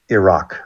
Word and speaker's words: Iraq: a friend named Ron, and Iraq, like ear. Someone threw a rock at your ear. Iran, Iraq, there's no such as Iran or Iraq.